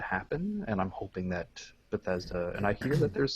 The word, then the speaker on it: Bethesda: Bethesda is how you say it.